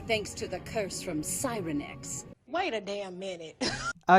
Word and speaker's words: Sirenix: to the curse from Cyrenex. Wait a damn minute. Oh yeah, take a shot every time they mispronounce Cyrenex. There are so many different pronunciations of it within this one movie.